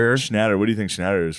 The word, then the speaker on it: Schnatter: Schnatter. Schnatter.